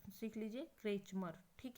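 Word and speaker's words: Kretschmer: ठीक है, अच्छे से प्रोनाउंसिएशन सीख लीजिए, क्रेचमर।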